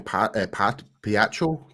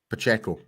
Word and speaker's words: Pacheco: Piaccio? Pacheco. Thanks for that, Brian. I can never pronounce that guy's name right, so I do apologize if he ever hears this.